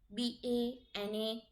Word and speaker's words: banane: Banane. BANANE. Not A. NE. Banane. So this is the correction of all the wrong spelling.